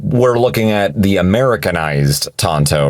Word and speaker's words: Tanto: it should be pronounced Tanto not share the exact same pronunciation of this character's name now the reason this blade is pronounced Tonto despite its spelling goes back to its origin of country where it was invented